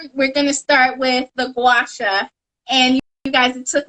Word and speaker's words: Guasha: Linda said you know if you say like guacamole then you can say wash yourself this is the guava here and this is the actual packaging and Linda was holding up actual gwasha I'm so you can